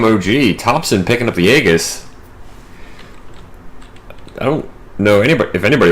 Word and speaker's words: Aegis: Yes, I know it's technically Aegis, but I prefer Aegis because I just think it sounds cooler.